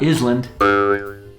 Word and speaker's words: island: Like this first word, island, a piece of land surrounded by water. Island, not island, island.